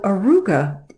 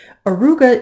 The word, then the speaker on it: Auriga: Arouca is first off I find it great fun to say because it sounds to me like an old turn-of-the-century nerd early 1900s car arooga something like that and that is how you say it Arouca is supposed to